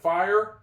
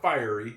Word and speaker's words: fire: Fire. Silent E at the end. It makes the I sound like itself. It's not fiery. It's fire.